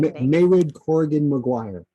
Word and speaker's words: Mairead Corrigan Maguire: Mairead Corrigan Maguire.